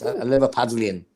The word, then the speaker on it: Liverpudlian: Liverpudlians? Is that how you pronounce it? Yeah. Okay. People I just want to make sure I get that right. Yes, a Liverpudlian.